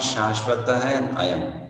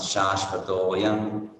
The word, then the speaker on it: शाश्वतोऽयं: You know, when we join the two words, then it's not Shashvata and Ayam. It becomes Shashvato Yam. Now you combine them and pronounce them together.